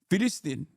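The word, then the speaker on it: فلسطين: Free Palestine is like Filistin is how you say it. Is actually how you say it in like he's saying it in the correct way, in the Arabic pronunciation.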